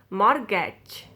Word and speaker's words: mortgage: be silent more catch t will be silent mortgage okay now looks at